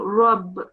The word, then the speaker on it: رب: So with the word of Allah or Rabb, you have to pronounce that with a fuller mouth, with a round mouth. So you will be pronouncing Rabb with a heavier sound.